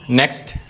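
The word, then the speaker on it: knock: नॉक यहां पे के साइलेंट है।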